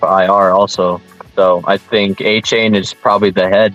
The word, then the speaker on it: Achane: Well, they kept saying it was something different, like a Chaney. On NFL Fantasy Live, they pronounced it Achane.